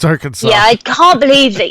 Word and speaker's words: Arkansas: Yes, it's Arkansas. Yeah, I can't believe that you pronounce it like that.